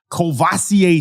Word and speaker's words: Courvoisier: I don't know if he's named after the cognac, but it's the same pronunciation. Courvoisier Smoke.